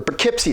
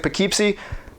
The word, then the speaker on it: Poughkeepsie: called the keepsake tapes or poughkeepsie tapes i don't know why i pronounced it pekeepsie i was just reading